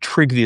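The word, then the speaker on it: Trygve: But Trigy is spelled T R Y G V. It's um Norwegian.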